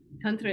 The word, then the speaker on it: tantra: in understanding the concept so tantra is two syllables ton which means to expand or to to um to stretch and thra which means to save to liberate so tantra is wisdom